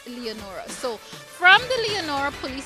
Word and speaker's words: Leonora: I always like to remind you, the folks who live here call it Lenora, but the correct pronunciation is Leonora.